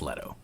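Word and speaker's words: Lehto: a sci-fi FPS from the Halo co-creator Marcus Leto that has the H in it so you know that it's Leto it's like you wouldn't pronounce that leet it's less so let o with that anyways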